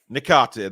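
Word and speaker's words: Niakhaté: Turner, Sangare, Gibbs-White, Chris Wood, of course, Hudson-Odoi, Niake. How do you say that, Billy? Nikate, there you go.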